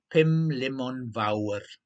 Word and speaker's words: Pumlumon Fawr: Olivia Bolivia asked, rolling the R and pronouncing the mountain perfectly. Pumlumon Fawr.